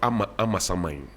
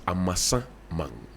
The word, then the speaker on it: Amasaman: It's not Amasaman. It's Amasaman. Amasa man. Yes. The man is called Amasa. And it is his town.